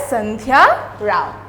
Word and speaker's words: Sandhya Rao: Alright, so you will pronounce it as Sandhya Rao, okay.